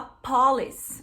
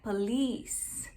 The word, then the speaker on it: police: Muita gente fala errado essa palavra, porque coloca a sílaba tônica no começo e fala police, mas não, a sílaba tônica tá no final. Então, polícia em inglês é police.